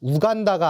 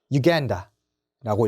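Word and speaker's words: Uganda: 우간다가 아니라 유간다라고 읽어주시면 됩니다. 유간다예요. 자, 우루과이도 아닙니다.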